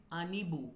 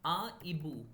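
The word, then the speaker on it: hibou: Right, one owl, right, so you must be reading it anibu, but no, यहाँ पे we will pronounce only aibu, we will only pronounce aibo, so aspirated s, so there is no liazo or elision.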